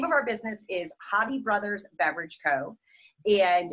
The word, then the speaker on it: Hodde: The name of our business is Hodde Brothers Beverage Co. And it's spelled H-O-D-D-E, although it's pronounced Hodde, like a true Michigander.